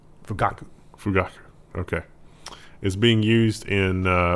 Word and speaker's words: Fugaku: I think the emphasis will be on the middle syllable. Fugaku.